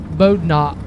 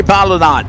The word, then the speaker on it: Balut: butcher his last name uh bodot is what it looks like but I'm sure I butchered it ah it is it's Cory balut right there but balut will